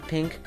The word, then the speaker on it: Peenk: how do i bro it's pronounced like pink like the color um can i place